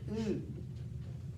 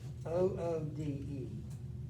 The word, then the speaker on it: Aude: She's born in France, and I asked her how to pronounce it, and she said "oude," almost like Oode.